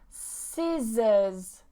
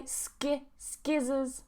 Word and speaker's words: scissors: The next one, scissors, scissors. So again, you see this combination of SC, SC. I just pronounce the S, okay? I don't say skizzers, muscle, okay?